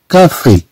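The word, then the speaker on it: café: لو كا، كا كما تنشوفوا عندنا السي أ تنطق كا، ثم في، في، إف أو أكسون إيغي تنطق في.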